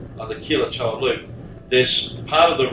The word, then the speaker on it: Quilotoa: So so on the way back on the Quilotoa, it's pronounced, I'm pretty sure, on the Quilotoa loop, this part of the road is being done.